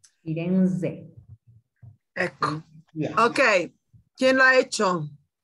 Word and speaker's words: Firenze: In italiano la Z si pronuncia bene. Firenze.